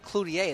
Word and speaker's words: Cloutier: So it's Cloutier, that's French.